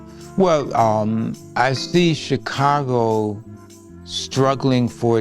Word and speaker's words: Chicago: well um I see Chicago struggling for its Humanity to embrace peaceful behavior um um I'm saddened by so many uh deaths by uh gun violence um Chicago which was originally pronounced shago it was a land